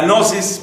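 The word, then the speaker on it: gnosis: es la interpretación gnóstica la nosis palabra que se escribe como sabemos con una G inicial la nosis es aquella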